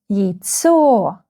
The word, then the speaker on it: яйцо: ЯЙЦо. The second syllable is stressed.